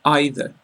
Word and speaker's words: either: song which dis because there are different ways to pronounce these words and the different ways are both acceptable so you can say e or either neither or neither if you look at the